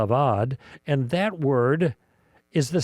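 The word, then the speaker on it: עבד: The Hebrew word is avad uh e b d if you anglicize it in the spelling but pronounced aad and that word is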